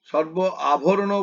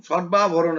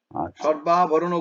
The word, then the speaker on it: সর্বাভরণ: করবে যেমন একটা জায়গায় তুমি উচ্চারণটাকে এত ভেঙে দিলে সর্ব আভরণ ভূষিতাম সর্বাভরণ একসঙ্গে বলবে সর্বাভরণ ভূষিতাম সর্ব আভরণ ভূষিতাম এভাবে বলবে না ঠিক আছে সর্বাভরণ ভূষিতাম